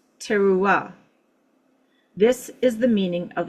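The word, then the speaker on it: תרועה: The Strong's concordance is Hebrews or H 8643 and is pronounced tera.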